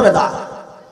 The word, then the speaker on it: বিদআত: যদি বলে তো ফ্যানও বেদাত বেদা মানে আমাদের আরবি শব্দ আমরা আমাদের মত করে উচ্চারণ করি বেদাত আপনারা যারা কন বেদাত